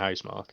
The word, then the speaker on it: Housemarque: It was made by, love was it Housemarque? Is that how you pronounce it? Yeah, Housemarque, yeah.